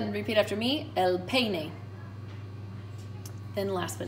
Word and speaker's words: peine: here our comb is el peine el pay nay just kind of help you with those vowels um you can write